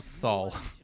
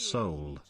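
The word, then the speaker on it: Seoul: no it's like SE isn't it SE not Soul right you mean as in the city it's pronounced Soul well Brian's said it like soul but it's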